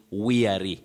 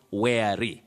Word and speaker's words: weary: in terms of pronunciation you can realize that you say weary not where then the word below